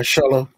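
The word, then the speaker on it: Xolo: Solo, right? That's how you pronounce his name? Yeah, Solo.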